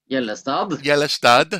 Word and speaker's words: Gjellestad: Now I want to try and pronounce this correctly. Gjellestad. Very good. Gjellestad, sorry.